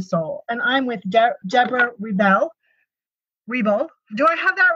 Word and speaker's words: Reble: And I'm with Debra Reble. Do I have that right? Reble, yes. Which is always my biggest fear, everyone, just so you know, pronouncing someone's name wrong.